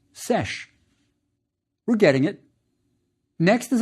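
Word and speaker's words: sš: Yes, it's scribe, which ends at the man determinative, and it's pronounced sesh.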